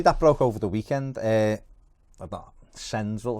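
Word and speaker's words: Cengiz Ünder: Senzil, is that how you say it? Cengiz Under.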